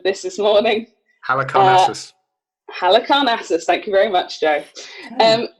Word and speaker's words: Halicarnassus: and the mausoleum I did look at the pronunciation of this this morning Hannah cars Halicarnassus thank you very much Joe so the only